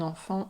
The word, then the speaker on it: enfant: Or another example would be un enfant intelligent. Un enfant intelligent. So we don't pronounce the T at the end of enfant.